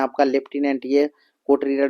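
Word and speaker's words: lieutenant: एन ए एन टी अब याद कैसे रखेंगे लेफ्टिनेंट लिखा हुआ है लेकिन लाइ उट नां लाय उट नाट लाटेना लेफ्टिनेंट होता है ठीक है स्पेलिंग टफ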